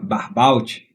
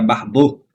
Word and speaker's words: Barbault: Então eu estava falando Barbault, na verdade é Barbeau, né? Claro, ele tem um nome francês.